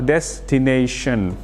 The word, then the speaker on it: destination: Ini ada destination, artinya adalah tujuan, dan jangan lupa membacanya adalah destination, pakai shin.